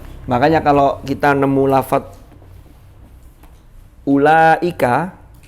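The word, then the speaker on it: أولئك: Makanya kalau kita nemu lafadz ulaika, kenapa di situ ada wawunya tapi kok tidak dibaca panjang? Itu hanya rosem untuk membantu bahwa itu bacanya ulaika.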